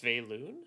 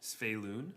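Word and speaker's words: Svyelun: I think it's Sveilun. Sveilun. Okay, I like that. Or Sveilun, because the Y comes first.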